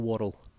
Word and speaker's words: whorl: It's called a spindle whorl. This, but the second part of it is spelt W-H-O-R-L.